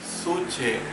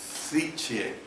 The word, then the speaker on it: psique: La palabra griega que se traduce por alma es suche, con letra P al principio, que también se escribe como psiche o psique, con letra P al principio. La P es muda, ¿ve?